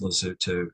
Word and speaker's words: Lesotho: So I just want to show you that in fact it's spelled with O's but they're pronounced like use. It's lazu for whatever you say to not food.